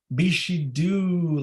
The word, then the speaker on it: Bixhidu: beef she do because it does not read the way that it is pronounced it is b-i-x-h-i-d-u bishido like a small kiss